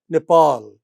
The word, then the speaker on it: Nepal: So Argentina is Argentina, India is India, but Nepal, second syllable. Japan, end of the word. Nepal, end of the word. Brazil, end of the word.